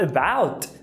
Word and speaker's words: about: E quando você vai falar about, tá escrito A, mas a pronúncia é about.